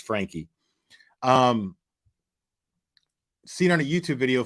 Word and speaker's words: Franke: Blank was Ruby Franke was seen on YouTube on a YouTube video filmed, and I've been saying Frank. Sorry about that, but I know it's pronounced Frankie.